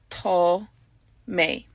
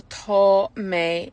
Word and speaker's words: tá mé: So the A fada makes the A long, so it gets an O sound, tá.